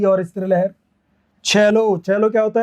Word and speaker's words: cello: है ना, तो वो इसको सेलो नहीं बोलते फिर अंग्रेज। यहाँ पे सी का साउंड से नहीं आता, यहाँ सी का साउंड कै नहीं आता, यहाँ सी का साउंड च आता है। कैन you believe it? सी का साउंड क्या आएगा यहाँ पे? च आएगा। CELLO इसको हम कहते हैं चैलो।